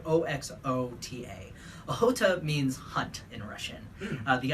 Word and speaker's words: Ohota: Every year around Thanksgiving, we have an event called Ohota, which is spelled O-X-O-T-A. Ohota means hunt in Russian.